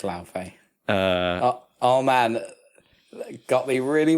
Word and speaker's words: Laufey: God of War, how do you pronounce this? Laufey? I want to say Laufey. It's Laufey.